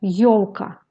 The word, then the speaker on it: ёлка: Le son yo se compose aussi de deux sons i bref o qui se prononcent presque en même temps qu'on dans yo-yo.